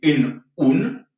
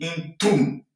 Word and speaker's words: într-un: Mais ça sonne mal de dire în un. Ou bien dans une. On aurait pu dire în o. C'est difficile à prononcer si on prononce ça de cette façon-là. Alors, on a trouvé cet artifice pour que ce soit plus facile et plus joli. Donc, au lieu de dire în un, on dit într-un.